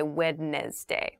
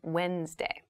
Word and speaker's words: Wednesday: of the week but keep in mind this is pronounced Wednesday There's a d there but we don't say wedness day we say Wednesday Wednesday the 18th Wednesday